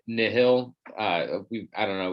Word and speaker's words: Nihil: it's um it's not we say nile but i i think that the pr proper pronunciation is isn't it nihil uh we've i don't